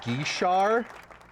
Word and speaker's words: Guichard: Google says it's pronounced Guichard. It's probably like Guichard. Guichard. Guichard. You have to really try to close the back of your throat and suffocate while you're saying it.